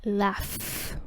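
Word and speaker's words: laugh: Cómo se escribe porque esta palabra se escribe con gh pero se pronuncia laf por lo tanto ese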